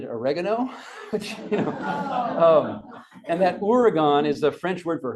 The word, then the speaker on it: Oregon: Everyone knows that the media mispronounces Oregon all the time, right? And how do they say it? Oregon.